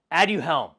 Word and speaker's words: Aduhelm: It is called Aduhelm.